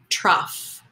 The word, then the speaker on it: trough: I say you see trough this is a tough word because it look it looks funny and there's no letter F you just have to remember an F sound at the end so let's try it